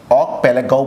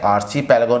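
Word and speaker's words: archipelago: ठीक है ना, ये जो स्पेलिंग आपको दिख रही है, ऑक पेलेगो बोलेंगे इसे, ठीक है, आर्ची पेलेगो नहीं, ऑक पेलेगो, यहाँ पे का साउंड आएगा, ऑक पेलेगो।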